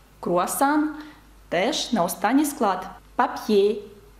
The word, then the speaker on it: papier: «Papier», «папір» на останній склад падає наголос. «Parasol», «парасолька» від сонця.